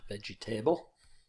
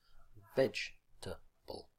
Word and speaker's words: vegetable: - in five syllables not veg'table which often students will say hair but vegetable three syllables and friend certificate sir